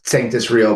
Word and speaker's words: Sanctus Real: question a lot and a lot of people mispronounced it. Uh, we mispronounced it. So, there you go. But yes, it's sanctis real.